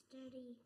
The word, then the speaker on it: sturdy: And where is the accent? Is it on the first syllable or the second one? First. So you would say stirred.